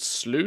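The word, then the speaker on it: Sluice: nine and side street SLO is that how you pronounced that we'll go of slle it's like juice but with slush um the launch of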